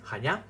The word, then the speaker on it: Chania: They are based in the town of Chania in Crete, Chania the correct pronunciation.